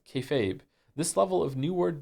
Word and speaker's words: kayfabe: Kefabe is pig Latin for be fake. refers to essentially treating a bit you're doing that everyone understands as fake as real to facilitate the bit and is pronounced kayfabe.